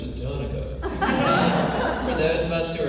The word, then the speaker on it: Danica: He pronounced my first name the way that you do when you live inside the Beltway, which is Danica.